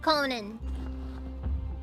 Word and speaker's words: Conan: I just killed Conan. Conan, wait. So, is that one talk show host like like Conan O'Brien? Is it pronounced the same as as that or or is it different?